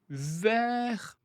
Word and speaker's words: vers: je sors du lit vers 7h30. Alors attention à 7h, c'est l'heure exacte. Vers 7h30, vers 8h, vers 19h environ approximativement pour 1 heure approximative. On ne prononce pas le S.